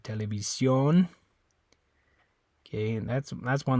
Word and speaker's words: televisión: Okay, and that's one that's different in English, because in English that makes kind of an sound. Television. It's like a I don't even know how you say it in English. It's almost not even an sound anyway. Television. It's like a weird sound, but in Spanish it's a O.